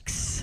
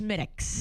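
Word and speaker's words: Smithwick's: Smithics. I thought they'd said Smithics and how they pronounce it but it looks like it's spelled Smithwick. Yeah, but it's pronounced Smithics.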